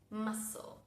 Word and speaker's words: muscle: vimos hasta ahora, es la palabra muscle. Muscle tiene una C que ignoramos completamente. Muscle.